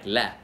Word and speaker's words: lader: But very often we'll actually say it the fast way, like la. Like you could say, jeg lader dig gøre det. Jeg lader dig gøre det. Right? So it's like L-A apostrophe, that's how you pronounce it. But we spell it L-A-D-E-R, in the present tense.